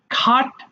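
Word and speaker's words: cut: করা select selected selected খাট কাটা দেখে এটা খট যেখানে ক পাব শুরুতেই আমরা খ এর মত করে উচ্চারণ করব এটা খাট হয়ে যাবে খাট কাটা খাট খাট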